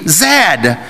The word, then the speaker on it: Zed: It is pronounced Zed, not Z, Zed.